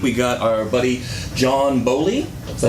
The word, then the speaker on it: Boley: And this week we got our buddy John Boley.